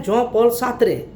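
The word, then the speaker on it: Jean-Paul Sartre: उसमें दूसरे हैं जॉन पॉल सार्त्रे, जॉन पॉल GAN, जीन है, इंग्लिश में जीन कहेंगे, लेकिन चूंकि फ्रेंच भाषा का ये शब्द है इसलिए जॉन पॉल सार्त्रे इसको कहा जाता है।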